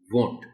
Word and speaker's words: won't: on bow and arrow it's a short form of would not but it's pronounced as want perfectly but stress it